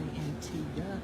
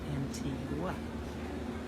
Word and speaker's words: Antigua: And they say Antigua, even though it's spelled Antigua. Antigua in Guatemala is spelled the same way that they say Antigua.